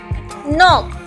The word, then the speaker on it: knock: तो नॉक में भी हमारे पास N से पहले K आ रहा है, तो K हम यहाँ से गायब कर देंगे, साइलेंट कर देंगे, इसकी कोई भी आवाज़ नहीं होगी।